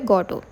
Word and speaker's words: Godot: है गडो ठीक है जो स्पेलिंग है जी ओ डी ओ टी तो टी जो है वो साइलेंट है तो इसलिए हम क्या कहते हैं इसको को क्या कहेंगे इसका जो प्रोनंसिएशन है वह है गोटो एंड हिज कंट्रीब्यूशंस टू